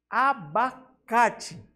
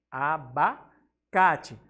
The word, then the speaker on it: abacate: Abacate. Abacate. O K também é a maior sílaba com maior intensidade sonora.